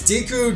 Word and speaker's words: Deku: Diku, Deku. Or if you watch Boku Nohiro, you probably pronounce it Deku because of the main character.